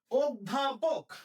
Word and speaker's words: অধ্যাপক: অধ্যাপক, অধ্যাপক, এই যে ধয়ের সাথে জফলা আছে, তার অয়ের উচ্চারণটা কিসের মতো হবে, অয়ের উচ্চারণটা ও এর মতো হবে।